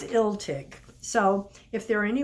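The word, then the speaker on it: Illtyd: welts dictionaries online and the one that was most commonly agreed of for the pronunciation of his name was ill tick so if there are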